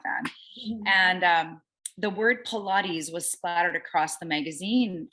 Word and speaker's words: Pilates: a big madonna fan and um the word pilates was splattered across the magazine um cover and i didn't even know how to say it so i was like what is pilots so i bought the magazine i did i